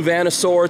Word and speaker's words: Vanasaur: New Vanasaur t-shirt, that's how you pronounce that.